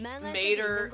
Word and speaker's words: mater: Wait, mater is the Latin word for mother, but is pronounced with an ah sound rather than an a sound?